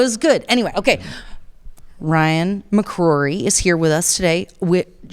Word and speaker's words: McCrory: McCrory. Yeah. McCrory.